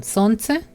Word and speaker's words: солнце: And to the next one, солнце, no L, солнце.